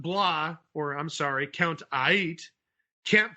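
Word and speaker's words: Aight: I'm Count Aigit. No, you're Count Ait. Aigit. He's pronouncing A-I-G-H-T as it really, looks. Aigit. No, it's Ait. Like everything's all right. Like everything's Ait.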